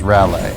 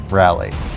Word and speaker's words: Raleigh: yeah i've always i've always pronounced it as raleigh but i i am led to believe that it is that it's rally well i guess i